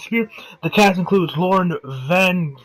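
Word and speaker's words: Spierig: I believe they pronounce it Spear.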